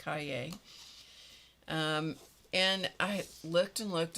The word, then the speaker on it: cahier: This is pronounced cahier.